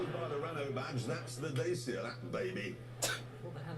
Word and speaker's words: Dacia: By the Renault badge, that's the Dacia, that baby.